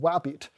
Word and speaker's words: WABT: file is using a webassembly official project called wabit it's spelled this way a web assembly binary toolkit